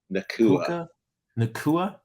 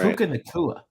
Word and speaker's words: Puka Nacua: Puka Nacua. Right. Puka Nacua.